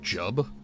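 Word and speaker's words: Jiub: Saint Jub, who drove the cliff racers from Vardenfell, has fallen to the It's pronounced Saint Jub? It seems it is a dire I situation. always pronounced it throughout Juib.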